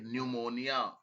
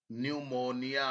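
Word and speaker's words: pneumonia: P silent होता है। पी एन ई यू एम ओ एम एम ओ एन आई ए न्यूमोनिया। न्यूमोनिया। ऐसे बोलोगे तो आ जाएगा।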